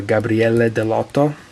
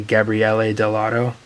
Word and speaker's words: Gabriele Dell'Otto: This is a sketchbook by Gabriele Dell'Otto, or as Americans say, Gabriele Dell'Otto.